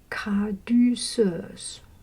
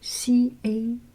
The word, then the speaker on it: Caduceus: Okay, the third sacred syllable is caduceus. I do not know the name of this. C-A-D-U-C-E-U-S.